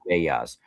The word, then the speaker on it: Vedas: They're called Veglia, but they're yeah. pronounced Vedas, where during solstices and equinoxes, people would get together and pass along the stories of the ancient ones, right?